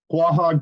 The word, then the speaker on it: Quahog: I know that you have a company, and I'm probably going to botch how you pronounce it. Quahog? How do you say it? Quahog Capital.